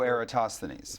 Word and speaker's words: Eratosthenes: I think it's pronounced Eratosthenes. Isn't I saying it? Oh, Eratosthenes.